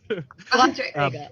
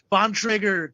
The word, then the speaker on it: Bontrager: Bontrager. Bontrager. Okay, it's a hard T, hard R. Gotcha. I made me flush. I pressed the wrong button. But it's a bicycle company. I'll drop a Bontrager commercial.